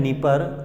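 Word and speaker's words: Dnieper: तो डॉन है, नीपर, तो नीपर में भी डी है, डी साइलेंट है।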